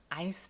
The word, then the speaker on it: Eins: 요거는 우리가 A라고 발음하고 싶은 너무나 A라고 발음하고 싶은 그런 모양을 가지고 있어요. 그런데 독일어에서는 I라고 읽어요. 자, 요거는 Die Schweiz라고 읽어요. 그다음에 요거는 Eins 입니다.